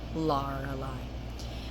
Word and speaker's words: Lorelei: So you would pronounce it more with a deeper R, Lorelei.